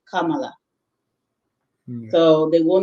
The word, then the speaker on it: Kamara: Just like we know the Maninka name Kamala is spelled Kamara. So modern West Africans say Kamara because we've been, exposed to the letter R sound. And because of the people who originally wrote this, would spell it with an R, we would say Kamara.